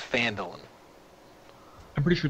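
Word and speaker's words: Phandalin: I always say it wrong, and then I always panic. It's Phandelin? I gotta look, someone called me out. Phandelin, yep. It is Phandelin.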